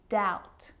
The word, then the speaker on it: doubt: examples subtle debt and doubt so see in all of those examples my lips aren't closing and coming together to form the b sound i'm just pronouncing the t subtle debt and doubt now the letter c